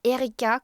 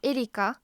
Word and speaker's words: Erika: Et c'est mon vrai prénom, mais je prononce Erika comme en français, je m'adapte, mais c'est Erika en japonais.